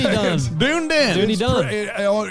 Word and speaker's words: Dunedin: Dunedin. That's how you say it. Dunedin. Dunedin. Dunedin. It reads Dunedin, but they say it differently.